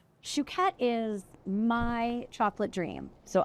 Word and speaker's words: Chouquette: - Chouquette is my chocolate dream, so I'm saying it right, Chouquette? - Shoe like you wear on your foot. - Shoe. - Shoe cat.